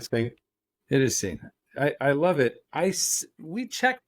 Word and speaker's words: Singh: It is Singh.